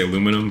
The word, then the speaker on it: aluminum: I guess he misspelled it, but also like we just mispronounced it because it's supposed to be aluminium, but we say aluminum because you know, America, I should be able to get this note of CO as well.